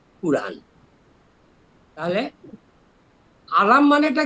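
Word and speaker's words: قرآن: তাহলে আলাম মোস্তফা যে বলছিলাম উনি যেখানে ইংরেজিতে লিখেছেন সেখানে উনি সবসময় লিখেছেন কিউ ইউ আর এন। কাজেই উচ্চারণ হবে কুরআন।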